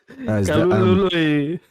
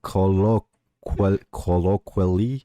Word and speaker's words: colloquially: Kalulului. No, colloquially.